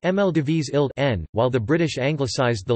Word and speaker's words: Maldivische Eilanden: The Dutch referred to the islands as the Maldivish Islanden, pronounced Mldivis Ild N, while the British anglicised the local name for the islands first to the Maldive Islands, and later to Maldives.